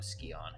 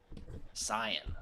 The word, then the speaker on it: scion: From what I hear, he's an appropriately frightening young Skion. Is that how you pronounce it? I guess so. It's like Scion. He's really quite something. Cyan.